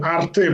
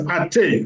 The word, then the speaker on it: Arte: I I I noticed earlier on I said Arte, but it's Arte, right? It's Arte, yes. Arte.